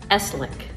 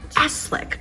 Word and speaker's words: Esleeck: it's a tough one Eslick it's like slick with a e in the front Eslick okay tell me where